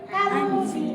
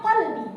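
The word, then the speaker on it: قلبي: Nah, ada seseorang ini beneran memberi nama anaknya yang maksudnya itu hatiku tapi menjadi kalbi pakai kaf. Kalbi maka artinya anjingku padahal maksudnya kolbi gitu ya.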